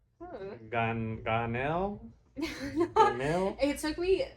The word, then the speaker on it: Janel: When they sound it out, it's Janel.